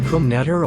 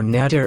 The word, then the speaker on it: Krumnetter: Peter, is it pronounced Krumnetter or Netter and the K is silent? Pronounce the K.